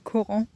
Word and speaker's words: Corent: Du coup, elle s'appelle Coran. Donc ça s'écrit C-O-R-E-N-T.